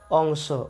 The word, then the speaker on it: অংস: আবার স্বরেয় অনুস্বার দন্তস্য, এই শব্দটির উচ্চারণ কিন্তু অংশ, অর্থাৎ দুটি শব্দের উচ্চারণ একই, সেটা হচ্ছে অংশ, কিন্তু অর্থ কি এক?